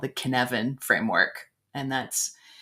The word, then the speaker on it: Cynefin: use in my leadership development training called the Cynefin framework. And that's spelled, it's a Welsh word, what is it?